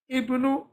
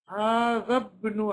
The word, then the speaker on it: ابن: The Hamza doesn't get pronounced because it's in the middle of a sentence. So we say, هذا ابن حامد.